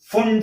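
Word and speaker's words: Pfund: बोलते हैं, क्योंकि इसको फुंड ने बताया था इसीलिए इसको फुंड सीरीज बोलते हैं। p आगे रहता है, साइलेंट रहता है, p फुंड सीरीज, ठीक है।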